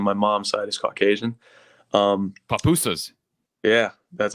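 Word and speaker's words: pupusas: Papusas.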